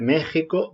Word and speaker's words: México: pura cuestión de tradición es el caso de pedro jiménez de méxico de texas pues son palabras que se escribieron así con x cuando esa letra todavía representaba el sonido en mexico sonido que evolucionaría a mexico a lo largo del siglo 16 y esa forma de escribir las se han respetado a pesar de que